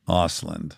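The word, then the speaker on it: Östlund: Ostland. Ausland.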